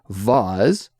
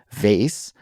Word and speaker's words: vase: with an S sound vase which is how you pronounce it Cassie and then me I say it vas with uh more of a z sound a buzzing sound so there's three different